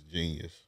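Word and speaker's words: jeen-yuhs: Yeah, Genius. It's spelled crazy, but it's Genius. It's spelled like with a J.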